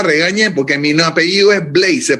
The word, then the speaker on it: Blades: Maestro Rubén Blades, su banda o mi banda sonora está acompañada por usted.